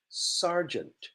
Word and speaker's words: sergeant: And in the army, in the military, we have a person called sergeant, pronounced R, sergeant.